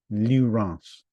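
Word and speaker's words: Lieurance: It's spelled Frenchly like L I E U R A N C E Lance.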